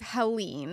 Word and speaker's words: Helene: And then we have Beryl, Chris, Debbie, Ernesto, Francine, Gordon, and it is Helene.